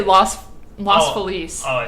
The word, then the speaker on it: Los: your analysis of the Los Angeles and I want it pronounced that way because I hate when people pronounce LA like Los Angeles like it's not loss it's lo it's it's masculine not feminine and it annoys me